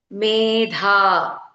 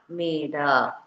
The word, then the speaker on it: Medha: like to say maidha we have to pronounce it as maidha not maida.